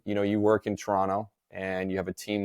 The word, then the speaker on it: Toronto: the right way you you didn't pronounce the second T now you said it the right way oh most people not from Toronto say Toronto Toronto you said Toronto which